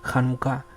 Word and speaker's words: janucá: completamente incorrecto en español si usted transcribe la palabra janucá como ya nunca la mayoría de los lectores latinos entenderán a pronunciarlo como lo acaba de hacer con una c h cómo se pronuncia en charca por ejemplo eso sería incorrecto nunca se debe transcribir janucá con ch en español en nuestro idioma tenemos